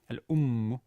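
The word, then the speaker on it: الأمُّ: And actually, on top of that, the ummu, the second syllable here, the syllable, is actually considered long because it ends on a long consonant. See there, the meme is lengthened. The meme has a shadda on top. Al-ummu, such a lengthened consonant, means that the syllable in front of it, this lengthened consonant, is considered long.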